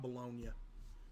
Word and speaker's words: Bologna: In Italy, bolognia, not pronounced bologn, is primarily there's a bologn Italy.